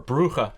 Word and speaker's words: Brugge: city called gent gent we didn't go to Brugge or brua I I heard that's actually how you pronounce it but Ang phones pronounce it Brugge and uh yeah I